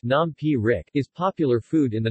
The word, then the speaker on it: nam phrik: ty nah Frick Xing pronounced nom P Rick is popular food in